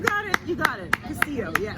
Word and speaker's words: Castillo: Castillo. Yes. Castillo.